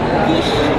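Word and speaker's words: quiche: Ngayon sige paano mo ipo-pronounce to? Quise. Peach dream. Kish. U. Kquish. Baka quish nga. Kish. Kish. Kish. Kish. Kish. Ang arte naman. Pare-pareho wala tayong mali.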